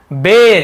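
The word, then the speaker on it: bare: बेर, इससे बहुत सारे बियर पढ़ते, बियर भालू, ऐसे नहीं है, बेर होता है, बेर।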